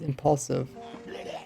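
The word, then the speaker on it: ImpulseSV: Impul the SV impulse is word play and pronounced impulsive.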